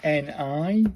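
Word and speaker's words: に: This is Ni. This one. Ni. Pronounced like the knee in needle, but shorter. So, it's a knee in it.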